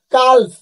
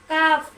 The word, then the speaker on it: calf: কোন শব্দের শেষে যদি KFM হয় থাকে, তার আগের লেটার যদি এল হয়, তখন এল সাইলেন্ট হয়ে যায়, যথা কাফ।